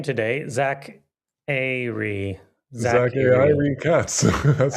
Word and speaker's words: Zachary: Zack Ari Katz. That's how I pronounce it. Nice. I do enjoy calling you Zachary just because it bothers you so much.